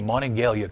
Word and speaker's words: Monongalia: back to something he originally said you you pronounce the name Monongalia correctly and I greatly appreciate that and the